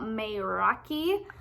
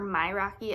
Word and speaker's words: Mayraki: about 3 weeks now is the Myraki, or Myraki. I've heard it pronounced a few different ways.